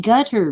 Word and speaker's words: Qatar: their pipe sideways um Qatar they say it's pronounced gutter but I don't like